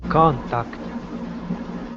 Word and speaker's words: contact: Okay, stress at the co- beginning. contact, Okay, very nice.